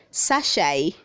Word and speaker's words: sachet: Word 380 says sachet, say sachet, don't say sachet. The T is silent.